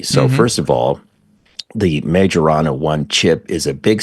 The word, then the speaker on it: Majorana: and by the way there's five or six different ways to pronounce the name of this thing majorana is easier to say so I'm going to go with that so you can come